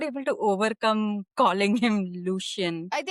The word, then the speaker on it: Lucien: Should we call him Lucien or Lucian? I think it's and how they pronounced it in the audio book was Lucian.